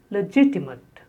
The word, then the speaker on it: legitimate: Then the next is legitimate. Legitimate. Stress on the second syllable. Legitimate. Legitimate.